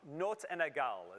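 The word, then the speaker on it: notes inégales: in baroque music that you'll hear tonight um notes and nagal is how you pronounce that and essentially that just means unequal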